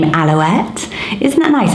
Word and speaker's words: Alouette: Another quite similar name vibe is the name Aloette. Isn't that nice? It's spelled A-L-O-U-E-T-T-E. It sounds like pirouette again, but I absolutely loved it.